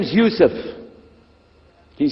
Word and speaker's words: Youssef: My name is Youssef. Can you say Youssef? You say Youssef. Yeah, very good. I wish you'd teach my wife. She keeps mispronouncing it. She calls me useless.